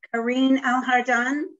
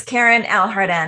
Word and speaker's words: Karine Alhardan: Okay, next is Karine Alhardan. I apologize if I'm mispronouncing that. Oh, that's okay. It's Karen Alhardan.